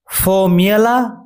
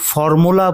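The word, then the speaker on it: formula: ফর্মিয়ালা অথবা ফর্মিয়ালা, তবে লক্ষ্য রাখবে এটাকে কিন্তু কেউ ফর্মুলা বলে উচ্চারণ করবে না, সেটা ভুল উচ্চারণ।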